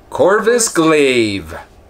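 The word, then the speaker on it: Corvus Glaive: more about these how do you say that corvis glaive thank you I knew I'd butcher it I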